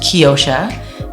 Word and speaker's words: Keyosha: It's pronounced Keyosha, meaning key of the ocean.